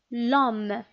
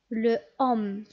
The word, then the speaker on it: l'homme: Est-ce qu'on peut dire et prononcer l'homme de cette façon? Le homme. Tout simplement non. Pourquoi? C'est le deuxième cas parce qu'on a dit que l'homme ici commence par un H muet.